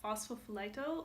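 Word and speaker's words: Phosphophyllite: this green gem column phospho flight o or fuss I guess in English you don't say the L what's possible for light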